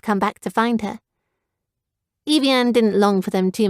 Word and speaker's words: Evian: up at her father Evian rhymes with avian we thought it was